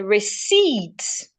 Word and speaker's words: receipt: If I have the word receipt, the letter P here is not making any sound. So I should not say receipt. The P should not be heard.